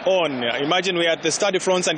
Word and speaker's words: Stade de France: Stade de France, that is where we are, because the rugby competition was ending today, men's rugby.